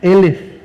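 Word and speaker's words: אֶלֶף: mil es la palabra elef elef se escribe igualito que alef sin embargo lo único que cambia es la forma de pronunciar la alef en una se pronuncia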